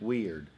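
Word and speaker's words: Wiard: and you're wrestling Jeff was it Ward weird weird and it's not spelled like you think that's why it was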